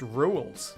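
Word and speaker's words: Rouxls: Rousey's tasted a bit of rejection today. First handeth in the form of various bullets. Used this song before too. It's pronounced rules is the title.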